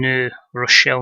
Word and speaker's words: New Rochelle: point six so your Hanes Athletic Center and New Rochelle New York we've that's how it's pronounced let's crack on so Mike Foley in